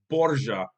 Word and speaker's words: Borgia: The name Borgia is actually an Italian pronunciation. So the pronunciation of the family name in Italian is Borgia, Borgia, but in Spanish it's Borja. Again, Borja, Borja with the silent J.